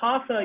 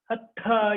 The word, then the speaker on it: hatha: Like for example, it's not hatha yoga. It's not hatha yoga. It's hatha yoga.